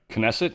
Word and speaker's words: Knesset: win, because the 120-member Knesset, is that how you say that? I think it is. I think they pronounce the K.